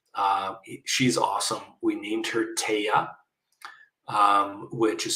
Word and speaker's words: Tehya: We named her Taya, which is spelled Tehya, and it means precious in Cree.